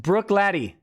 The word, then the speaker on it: Bruichladdich: music says Burke Burke lad H is pronounced Bruichladdich okay there you go